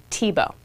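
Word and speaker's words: Thiebaud: b a u d French name and it's pronounced tibo now Wayne TBO is still alive today he lives in San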